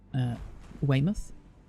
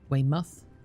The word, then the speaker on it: Weymouth: Weymouth. Not mouth. Not Weymouth. Weymouth. Muth. Okay. I think muth.